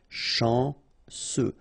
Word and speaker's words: chanceux: Final X not pronounced. And then remember, C, E, U will give you this se sound. Chanceux.